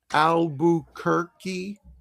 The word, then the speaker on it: Albuquerque: Now remember the Q and U, followed by a vowel, it's the sound of K. Okay, Like just a K. like the largest city in New Mexico where I grew up, I spent most of my childhood, Albuquerque. Those there are Uh, Q's in there, but it sounds like a K.